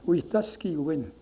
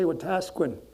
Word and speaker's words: Wetaskiwin: But anyway, next to my reserve, there's a city called Wetaskiwin. But it's the most mispronounced city in Canada. It's Wetaski win. People say Wetaskwin, but Wetaski win means having good relations.